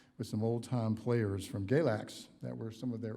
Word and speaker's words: Galax: Their newest album, Galax, which I'm one of the few people in Pensacola that can pronounce it correctly because I am from Virginia,